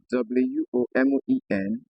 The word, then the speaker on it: women: The letter E again can produce a short E sound, as seen in the word WOMEN, which is transcribed as women.